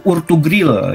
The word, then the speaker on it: Ertugrul: Nah, namanya adalah Utsman bin Ertugrul. Bukan Utsman bin Affan, Utsman bin Ertugrul. Ada juga yang bacanya itu Urtugril gitu ya.